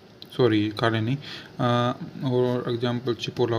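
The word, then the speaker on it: cipolla: यदि सी के बाद ई या आई उपयोग हो रहा हो तो सी को च पढ़ा जाता है। ये फॉर एग्जाम्पल हो गया चेंतो, चीबो, चिपोला, चेलेब्रे, बहुत सारे हैं।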